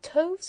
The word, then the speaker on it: toves: The I in slithy is long as in writhe, and toves is pronounced so as to rhyme with groves.